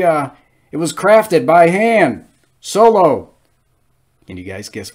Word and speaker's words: Han: all right han solo han don't pronounce it hans well i guess it will now han solo you know